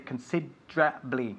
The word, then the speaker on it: considerably: We just say considerably, okay? Say it. Considerably. Eso es, considerably. Considerably. And we emphasize, just like Nieves is doing, the second syllable, considerably.